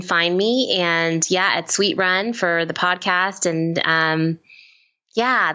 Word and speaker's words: Suite Run: We said the Sweet Run, that's spelled SUITE Run podcast.